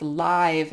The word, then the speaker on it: live: actually an adjective and when it's an adjective it's live animals not live animals so live it's similar to like live TV